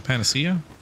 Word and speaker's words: Panacea: what' I get n pan how do you pronounce that one Panacea Pia o thank you all right what the